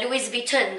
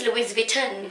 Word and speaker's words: Louis Vuitton: gonna roll I remember in Asia people said Louise beaten I'm like what is Louis Vuitton Oh Louie Vito oh but why I